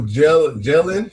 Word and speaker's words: Jalen: So Jalen, that's how you pronounce it.